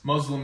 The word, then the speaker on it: Muslim: It's Muslim. Yeah, what's the difference? Muslim actually means like a dirty person. Like the Z sound is different. So Okay. Muslim, okay.